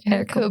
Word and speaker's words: haricot: So if you ever run into something about haricot beans, not haricot vert, but haricot beans, it's spelled like haricot, but the French pronunciation is haricot.